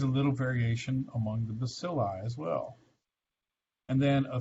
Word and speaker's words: bacilli: rod is bacillus again we can pluralize that one by taking the eu loss of us off and putting on an i that would be pronounced bacilli right those have an